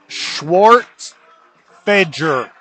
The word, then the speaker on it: Schwartzfeger: And I got corrected on how to say this last name. That's how I said it, but it's Schwartzfeger.